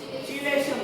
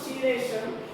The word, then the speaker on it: chelation: It is not chelation, it is chelation. Chelation, not chelation, right? Chemistry is not chemistry, right? This is not a chemistry, right? You won't pronounce this as a just like chelation. It's not chemistry, it's chemistry. K, we are pronouncing as a K, right?